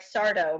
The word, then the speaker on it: Sardo: um or characters like sardo mr sardo no no mr accent on the dough that's what it was